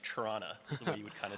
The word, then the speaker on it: Toronto: you live in Toronto you don't pronounce the t's it's like Toronto well I'm old